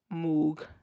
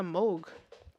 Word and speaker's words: Moog: Hate when people say Moog. Oh my God, not my auntie laugh coming out. Moog. It's a Moog.